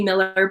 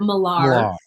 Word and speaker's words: Miller: it's it's very arrogant it should be Miller but we pronounce it malar yes perfect and Christina